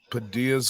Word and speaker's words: Padilla: Padilla's gonna be 34 tomorrow. Happy early birthday, you old motherfucker. Yeah. See, and I'm pronouncing it right, Padilla, because I speak Spanish.